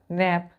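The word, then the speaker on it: knap: three letter है तो दोनों का प्रोनंसिएशन नेप पढ़ते हैं नेप लेकिन के यहां साइलेंट है यहां के नहीं है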